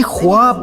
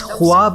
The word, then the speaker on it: خواب: کو جنت میں دیکھا۔ بھائی لفظ خواب نہیں ہوتا، خواب ہوتا ہے، لکھنے میں خواب ہے، تلفظ خواب ہے، لکھنے میں خواہش ہے، لیکن تلفظ خواہش ہے۔ اسی طرح ہم کہہ